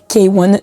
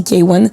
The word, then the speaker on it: KWN: La première artiste que j'aimerais présenter s'appelle K1. Donc ça s'écrit KWN mais ça se dit K1.